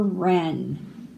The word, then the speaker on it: wren: W is for wren. The wren wrapped the rabbit's gift in red, but forgot to write a note. So the WR, the W is silent, and you just say the R sound.